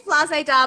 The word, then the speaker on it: Flazéda: That's spelled FLAZEDAHUB. Flazeda Hub. It's Flazeda. Oh, there it is. Yeah, Flazéda. I say Flazéda, but a lot of people say Flazéda.